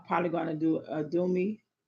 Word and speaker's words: Udemy: I know I'm probably going to do a Udemy. Is it Udemy or Udemy? I don't know how to pronounce it. It's Udemy.